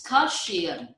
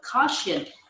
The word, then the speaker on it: cushion: It's okay, it's cushion. You use the word cushion, but in fact, this is called cushion. Cushion. Cushion. Only two syllables.